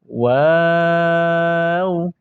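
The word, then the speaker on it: و: নুন, নুন, নুন, এরপরে ওয়াও, ওয়াও বলার সময় প্রথমে গোল করবেন, পরে আবার স্বাভাবিক করবেন, পরে আবার গোল করবেন, ওয়াও, ওয়াও।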